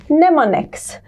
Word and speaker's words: mnemonics: look at this word the m is silent letter voila come on mnemonics to remember the names